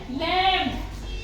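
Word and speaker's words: lamb: B silent होता है एम के बाद जो भी वर्ड आए है से पहले तो वो हमारा क्या हो गया साइलेंट हो गया ठीक है अब एक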